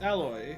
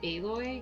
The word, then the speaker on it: Aloy: Horizon forgotten world it's alloy how did I never see this little hole in the wall before uh it's pronounced aloy get out of here